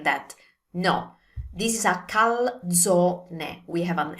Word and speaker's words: calzone: Now with this one, we have the usual mistakes. Saying calzone, we need to pronounce the ending E, so calzone. And also saying it like calzoni, again, it's one calzone, it's not plural, so use the E sound, calzone. And finally, another version I've